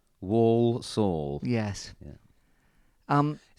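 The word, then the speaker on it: Walsall: thriller at home to warsaw not warsaw wall saw yes yeah um it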